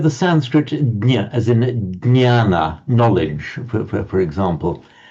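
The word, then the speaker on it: jñāna: jnana, knowledge, for example, in Marathi, do you pronounce it as a jna? How does Correct. That's how we pronounce it. Okay, fine. Yeah. I think that you are the Marathi speakers are the only ones, I think, in northern India who still pronounce it in that Sanskrit way. Because as you know, in Hindi, they'd say gyan, for example, the g sound.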